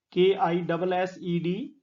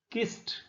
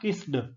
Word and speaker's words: kissed: Bereaved, K-I-S-S-E-D, kissed. The final sound of this word is t and not d. It is not kissed, it is kissed.